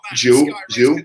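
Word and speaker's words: Zhou: That's pronounced Jew.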